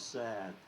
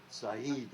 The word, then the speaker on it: Saad: Now his son races in NASCAR, but his real name is Boris Saad, Saeed actually pronounced, but it was Bob Saad, and he raced here.